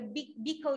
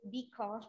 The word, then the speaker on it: Bicol: Okay, so the CBSUA is located in the Bicol region. We pronounce it Bicol, not Bicol.